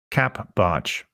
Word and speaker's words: CapBartsch: You can follow me on Twitter by using the Twitter handle capbarch. It's spelled CAPBARTSCH. Yes, that is CAP Barch, or spelled Charlie Alpha Papa Bravo Alpha Romeo Tango Sierra Charlie Hotel.